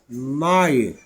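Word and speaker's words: night: الحروف دول ورا بعض جي اتش تي الثلاث حروف دول بينطقوا في اي كلمه في اللغه الانجليزيه حرف تي تي يبقى الاتش الجي والاتش لا ينطقوا والتي هي اللي بتنطق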